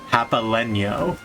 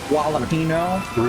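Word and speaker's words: jalapeño: I've been reminded of a customer who pronounced jalapeno as japaleño. Personally, I like jalapeno. Jalapeno? Ricky, it's jalapeno.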